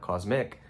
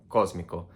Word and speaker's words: cósmico: So basic, básico, cosmic, cósmico, not cósmico, not cosmic, not cósmico, cósmico.